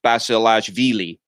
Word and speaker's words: Basilashvili: Basilashvili's serve, or on Basilashvili. This name is actually a pretty difficult one to pronounce. Let me say, my main insight about it is that Vili is the emphasis. So it's Basilashvili.